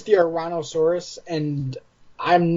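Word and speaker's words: Ouranosaurus: It's the Ouransaurus, and I'm not so hot on this particular figure.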